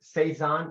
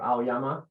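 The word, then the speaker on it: 青山: And this exemplar is the word Seizan or Aoyama. There's two ways to pronounce it.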